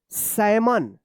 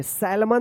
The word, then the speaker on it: salmon: चलिए अब देखिए यहाँ पे SALMON, क्या पढ़ेंगे? सैमन, क्या पढ़ेंगे? सैमन पढ़ेंगे, सैलमन मत पढ़िएगा, सैलमन। क्या होगा? यहाँ पे जो है ना एल साइलेंट होगा।